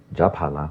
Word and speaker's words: Japhala: Japhala, which people often mispronounce as everything under the sun, that's not Japhala.